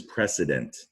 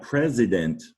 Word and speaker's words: precedent: Root word is precedent, not president, but precedent, and that's a noun.